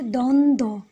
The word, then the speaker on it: দ্বন্দ্ব: এরপর হচ্ছে দন্তান দ ব সংযুক্ত, মানে তিনটা বর্ণের সংযুক্ত, তো যার কারণে আমরা দন্তান এবং দয়ের উচ্চারণটা পাচ্ছি কিন্তু বয়ের উচ্চারণটা পাচ্ছি না।